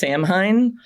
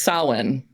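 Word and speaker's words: Samhain: n so it looks like it should be pronounced samine but from what I've read it should be pronounced sinan um and that that was a Celtic uh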